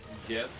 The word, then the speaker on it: GIF: you know that it's actually not pronounced um gift it's pronounced gift because the creator of the gift say that it was pronounced Jeff I have heard about that it's kind of